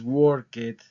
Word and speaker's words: worked: o ID Okay pero aquí la pronunciación no es worked la pronunciación es Word termina como con una t ya más adelante vamos